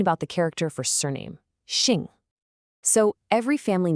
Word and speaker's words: 姓: Okay, so on the surface, Xing, pronounced Sing, seems pretty straightforward.